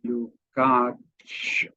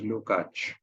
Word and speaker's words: Lukács: Georgi is written Lukács, Lukacs, but pronounced Lukács because S is pronounced in Hungarian as sh and C as ch. So Lukács. But everybody simply says Lukács. So it's up to you what you want to call him.